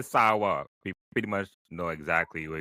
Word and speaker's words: San: So it was never pronounced Sanan. Wow. It was always from the beginning pronounced saw or sa as the French would pronounce.